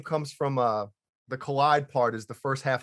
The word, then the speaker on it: Kaleid: So it's nice collide.